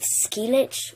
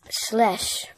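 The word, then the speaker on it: Schleich: Most people think you pronounce it Skelich or Schlet or, like, Schleisch. But really, it's German and it's Schlesch.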